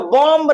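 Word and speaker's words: bomb: यहां पर देखिए बी ओ एम बी बी कहां आ रहा है? बी आ रहा है एम के बाद। तो यहां पर भी हमारा बी क्या है? साइलेंट है।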